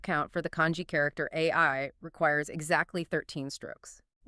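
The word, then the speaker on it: 愛: The word for love in Japanese is pronounced AI, spelled AI in the Latin alphabet.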